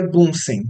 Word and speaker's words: Bunsen: queimador literalmente e bunsen bunsen em português bunsen tá a gente pronuncia bunsen tá é o sobrenome